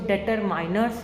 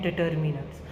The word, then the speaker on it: determiners: इसको डिटरमाइनर्स नहीं पढ़ते हैं। इसकी प्रोनाउंसिएशन है डिटरमिनर्स। डिटरमिनर्स जो है आपकी ग्रामर